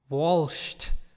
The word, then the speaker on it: Walsh: that okay w 0 l s CH t Walsh or something I thank you front as a phonetically but no it's just Walsh apparently Stefan